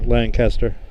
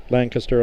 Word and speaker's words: Lancaster: Probably headed to probably State College or Lancaster. Lancaster I should say. They get on me if you don't say it right.